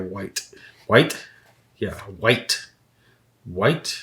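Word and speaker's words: wight: Is that how you pronounce that? W-I-G-H-T. Gotta be a white.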